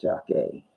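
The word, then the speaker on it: Jacquie: name is Jackie no J AC q UI where jock day might be this pronounced Jackie are you doing what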